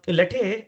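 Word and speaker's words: LoTTE: see there okay uh let uh you know latte pronounced as let is basically longtail cross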